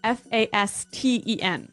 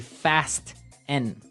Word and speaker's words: fasten: It's spelt F-A-S-T-E-N. Right, so it would be fast N. No. No, right? Fasten. Fasten. The Fasten. T kind of becomes silent.